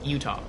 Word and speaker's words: Utah: no you're saying utaha it's like Utah two syllables and I'm like well I I've always said it as utaha so I just keep saying it that way that's how I first heard it pronounced and so that's just how I pronounce I thought I was